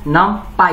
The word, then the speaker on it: NumPy: Learners, Python के चौथे video में हम लोग नमपाई के बारे में डिस्कस करने जा रहे हैं। नमपाई स्टैंड्स फॉर न्यूमेरिकल पाइथन। बहुत सारे पर्सन से नमपी भी कहते हैं, लेकिन एक्चुअली यार इसका प्रोनाउंसिएशन नमपाई होगा।